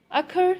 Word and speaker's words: occur: Occur, stress is on second syllable, and in drip, stress is on first syllable, drip.